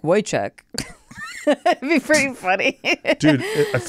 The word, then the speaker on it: Wojciech: Apparently, it's pronounced phonetically Wojciech.